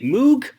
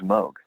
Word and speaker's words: Moog: became more of a commercial entity it was Moke for all intents and purposes but technically it's pronounced Moog so for example they had a keyboard called